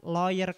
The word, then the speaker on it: lawyer: koff kemudian Law hukum ILC itu dia bilang Lawyer Club bukan layer Club saya coba akan kasih